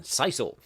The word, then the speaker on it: sisal: That is the correct pronunciation, sisal.